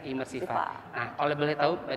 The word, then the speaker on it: imersifA: Ternyata imersiva itu memang karena lokasi ada di gedung A, jadilah imersif A. Dan bacanya imersiva.